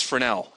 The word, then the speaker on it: Fresnel: pronunciation like my favorite is um is fresnel which if you ever pronounce it fresnel you'll probably get punched by somebody from France because it's fresnel it's f-r-e-s-n-e-l but it's fresnel anyway so that's the basics